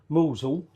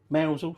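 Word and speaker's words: Mousehole: Um, so actually, if I'm mentioning fish pies, there is a famous fish pie from Mosul, Mousel, Mousel, sorry. uh pronounced or written mouse hole one word down in Cornwall where they make quite a unique fish pie.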